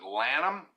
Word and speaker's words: Lanham: I will try this is your last name pronounced Lanham is it how you pronounce it I and